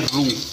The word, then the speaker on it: roux: Chefs language में इसको कहते हैं रू, ROUX, इसे हम कहते हैं रू, ROUX, एक्स साइलेंट होता है।